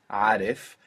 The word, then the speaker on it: عارف: And in the word, Arif, it's actually easier to pronounce because we have that long A, which sounds a bit like eh, after it, and it makes it much smoother.